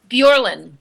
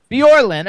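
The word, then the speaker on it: Bjorlin: Uh how do you pronounce her last name? Bjorin. Bjorin.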